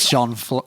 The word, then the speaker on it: Jean: Uh, as I am a six foot bloke with a French first name. Like Jean like JeanClaude Van.